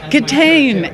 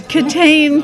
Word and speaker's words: Kitaen: Kitaen. It's Kitaen, people. A lot of people say Tawny Kitaen or Tawny Kitaen. Kitaen, that's what I get a lot.